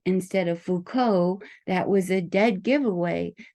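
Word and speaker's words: Foucault: didn't have it just by what how they pronounce certain words like if they said Fu cult instead of Fuko that was a dead giveaway that they were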